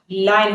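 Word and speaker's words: line: देखो जनरली आप लोगों ने ये वर्ड सुना होगा, इसको हम लोग लॉयल बोलते हैं। ये लॉयल नहीं होता, ये ला, लाइन होता है, लाइन। प्रोनाउंसिएशन लाइन है।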